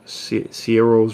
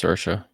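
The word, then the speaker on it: Saoirse: I believe so damn it's spelled s a o i r s e I'm pretty sure that's pronounced sersa oh um never mind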